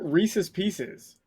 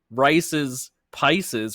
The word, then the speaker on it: Reese's Pieces: Yeah, it rhymes. Unless you mispronounce pieces. I've never heard anyone like fight over how to pronounce Reese's pieces. Unless you Yeah. Unless you're like Reese, like Rice's Pisces or something. But that's not right. So like southern. It's supposed to rhyme.